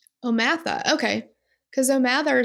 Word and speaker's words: O'Mather: I watched some of the court TV, the trial of it, and the way that she pronounced it was Omatha. Omatha, okay. Because O'Mather sounds like a her name to me.